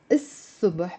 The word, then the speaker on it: الصبح: Simply by adding the il, which means the الصبح, pronounced as الصبح because sa, the sad is a sun letter, it becomes, bravo Rosie, it's a person.